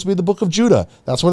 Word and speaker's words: Jude: yourself and realize that that e is supposed to have an a sound to it so j u d e Jude is not supposed to be pronounced Jude it's supposed to be pronounced Judah j u d Jude